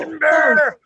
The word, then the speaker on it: Edinburgh: Edinburgh.